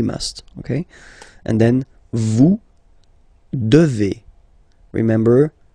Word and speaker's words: devez: Okay, and then vous devez. Remember, classic ending for vous here, a Z, but then you pronounce this combination of two letters, et, devez, vous devez.